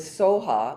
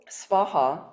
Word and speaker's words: svaha: Tibetans did not have a sound for the letter V. They don't pronounce V's in their etymology. Sometimes it sounds like a B, or it just becomes silent. So you can either say like S-V-A-A-H, Svaha, that's proper, or you can say Soha.